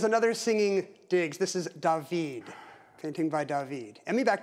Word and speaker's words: David: He's French, so say his name like that of singing actor Diggs. Stan. What is Tay? No. Matter, Emmy? There is another singing Diggs. This is David.